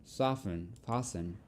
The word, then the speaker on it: fasten: Don't pronounce the T in these words.